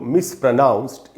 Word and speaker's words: mispronounced: इसमें ये जो ओ है पहला, पी आर के बाद, उसमें ओ का साउंड नहीं है, उसमें आधा अ का साउंड है। इसलिए इसको हम पढ़ेंगे मिसप्रो नहीं पढ़ना है, मिसप्रोनाउंस्ड। एंड में जो डी है उसको ट पढ़ेंगे, ड नहीं, यानी इसको हमको पढ़ना चाहिए मिसप्रोनाउंस्ड।